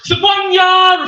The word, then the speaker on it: Sophorna: My name is pronounced Sapunya, Rafiki Ho's baby symbol of both prime rock, but my name is not Rafiki or Simba.